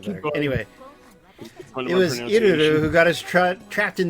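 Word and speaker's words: Ilulu: It's Iruru. Iruru. You gotta like roll it a little bit.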